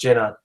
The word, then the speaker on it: Gina: But Gina was asking, is it bad to eat too much at night? I think that oh, okay, it's pronounced Jenna.